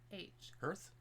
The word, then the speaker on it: hearth: happy hearth ours h e a r t h earth hearth earth no it's hearth h e it's pronounced earth no it's not a hearse it's